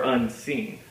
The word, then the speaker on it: unseen: Unseen. Do we say unseen or unseen? I think it's better to say unseen with the first syllable being unstressed and the second syllable getting emphasis.